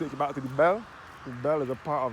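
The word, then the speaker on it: Belle: The Bell is spelled B-E-L-L-E. It is referred to as the Bell.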